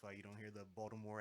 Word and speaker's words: Baltimore: Yeah, I used to say Baltimore, and they say you pronounce too many They letters. say no, Mr. K. Baltimore.